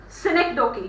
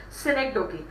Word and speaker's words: synecdoche: phrase, and that is synecdoche. You can write it down. I'll just spell it out. It is SYNEC. Just write it down. Make a note of it in your books. SYNECDOCHE. It is synecdoche.